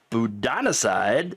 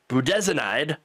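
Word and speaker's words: budesonide: has pushed unproven me uh you know remedies like a steroid called budanocide I'm sorry budanide got to say it right uh an antibiotic called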